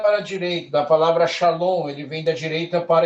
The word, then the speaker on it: shalom: Da direita para a esquerda, vocês terão som de chá, shi. Por exemplo, shalom. Olha só, shalom, a palavra mais conhecida da Taná, aqui, ó.